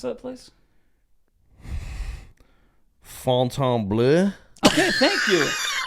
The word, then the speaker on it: Fontainebleau: Fontainebleau. Okay, thank you. Because there's no U in it. There's no U. Because they say Fountain Blue, But right?